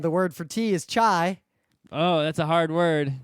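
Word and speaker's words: çay: And the word for tea is chai. Oh, that's a hard word. It's spelled differently.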